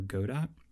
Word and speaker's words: Godot: engine you waited for that's a reference to the stage play Waiting for Godot where it's pronounced Godot which means that I think it should be pronounced Godot some people call it